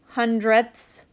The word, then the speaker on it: hundredths: the one hundredths and remember that's spelled with a th on the end that's not just me having a lisp hundredths is right here okay so this